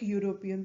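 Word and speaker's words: European: ये एक वॉल है लेकिन इसका जो प्रोनाउंसिएशन है वो YOU से शुरू हो रहा है जो कि एक कॉन्सोनेंट है इसलिए हम इसके आगे एन न लगाकर अ लगाएंगे।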